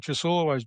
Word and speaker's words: Ciasullo: Uh again, my name is Chasul. Uh Trey uh hit it right on the head when he pronounced it.